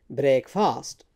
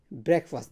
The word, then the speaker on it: breakfast: So most people say it breakfast. So they put the stress on the second syllable on this one, but the stress is on the first syllable. So we say breakfast, and then this syllable here, this is again a short vowel schwa. So it's not fast, it's first here.